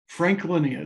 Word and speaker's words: Franklinia: Franklinia, it's spelled just like it sounds.